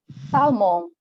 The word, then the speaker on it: salmon: Salmon. Salmon. Salmon. Yeah, the L is silent.